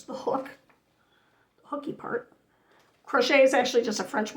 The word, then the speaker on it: crochet: Crochet is actually just a French word for hook. Yeah, that's why it's pronounced crochet without the T on the end, because it's French.